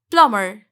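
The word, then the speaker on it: plumber: ए प्लंबर बिल्कुल नहीं इट्स लोमड़ यहां भी silent soul S प्लमर नॉट नंबर comfortable नहीं होगा यहां पर नहीं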